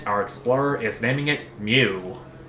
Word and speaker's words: Mu: Our explorer is naming it Mew. Or Mu. As in the Greek letter. It could be pronounced after the Pokemon too, but you never know.